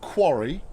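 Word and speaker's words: Kwari: like that um uh the game is called Quarry not spelled in the traditional fashion uh it's spelled k-w-a-r-i it says uh try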